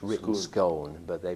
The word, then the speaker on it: Scone: It's written Scone, but they pronounce it Scone.